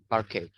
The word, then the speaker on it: parquet: How do we pronounce this? Can somebody help me? Packet or what? Parquet.